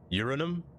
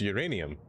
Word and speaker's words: uranium: Uranum? No, it's uranium.